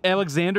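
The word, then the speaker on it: Alexandar: alexander alexander alexander yeah alex alexander is how you pronounce it it's spelled with an a which is funny hey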